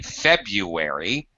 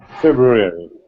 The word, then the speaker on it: February: Even English-speaking children have a hard time with this one, learning how to say this word properly. February. Okay, February. You should not say February. You should say... February.